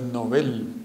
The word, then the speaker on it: Nobel: moda ahora otras cosas la pronunciación correcta es novel no hablemos del nobel